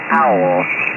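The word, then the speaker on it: Auel: And that was a book by a woman called Jean Owl. And the owl is spelled Alpha Uniform Echo Lima.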